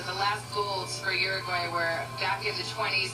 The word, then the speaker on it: Uruguay: You are gay, which is not how you pronounce it. Uruguay.